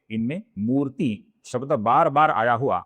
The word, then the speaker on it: मूर्ति: कुछ नाम है इनमें मूर्ति शब्द बार बार आया हुआ हमें दिखता है। इस शब्द में मुंह दीर्घ है और ती ह्रस्व है, तो इधर हमें बहुत